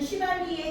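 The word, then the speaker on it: chivalry: 그 중에 시발리우스는 시발리의 형용사예요. 시발리 기사도. 발음이 얘가 시가 아니고 시야 시. 시발리에요.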